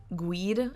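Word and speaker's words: Guede: The group had been hanging out with Rudy Guide, I believe is how you say his last name, who was a basketball court acquaintance of one of the Italians.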